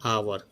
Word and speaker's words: hour: मैं आपको बताऊं तो जैसे हम लोग बोलते हैं आवर, HOUR, तो इसमें कॉन्सोनेंट साउंड से स्टार्ट होता है ये, लेकिन इसका जो उच्चारण है वो होता है आवर, अ से शुरू होता है।